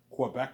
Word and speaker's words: Quebec: Quebec or Quebec, right? Yeah. But you can Quebec, you can either say Quebec or Quebec. There's two ways of saying it, obviously.